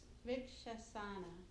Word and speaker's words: Vrikshasana: The Vrikshasana. And it's a VRK. Vrikshasana. So it's that's the way it's pronounced.